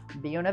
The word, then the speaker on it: Buena Vista: works really well, but the pronunciation was an early local choice to anglicize the name Buena Vista. And supposedly the town's founder, Alcina Deerheimer, actually insisted on the Buena pronunciation.